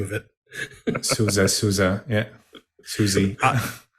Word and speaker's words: SUSE: name of it yeah Susie I read years ago that it is to be pronounced the same way as the American band writer uh John Philip Souza and so that's pretty